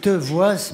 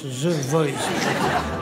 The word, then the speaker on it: The Voice: Ça s'écrit Te Voice, mais ça se prononce The Voice.